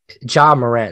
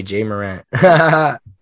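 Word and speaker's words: Ja Morant: a bit but yeah john moran that's how you say it yeah john murray i was telling everybody jay moran but yeah uh jim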